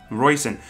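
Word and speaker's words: Róisín: yeah all right so r-o-i-s-i-n roisin it's kind of like a raisin but it's roycen see and it's again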